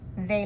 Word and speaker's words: de: And a DE is of, but that D is a very soft sound, almost sounds like a TH.